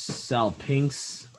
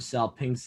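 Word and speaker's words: salpinx: the silver trumpet so the greek word there is cell pinks that's i guess how you would pronounce it in english s a l p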